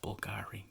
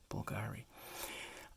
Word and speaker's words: Bulgari: think this is pronounced Bulgari that's like the Latin V is pronounced like a u Bulgari uh so the difference